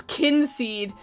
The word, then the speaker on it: Kynseed: How to pronounce kinseed? I am going to leave that alone. I don't care if it's kind seed or keen seed. It's kin seed to me.